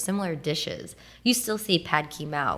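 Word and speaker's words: pad kee mao: You still see pad ki mao, like that's how you say it.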